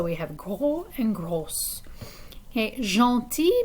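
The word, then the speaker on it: gentil: have gro and gross jean ti means nice when we add an s to the end it doesn't change the pronunciation and in feminine singular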